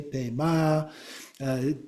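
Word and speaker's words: Pema: Now that Pei-mei could be pronounced Pei-mei, Pei-ma. Different people pronounce it in slightly different ways, but again, it's basically a two-syllable word.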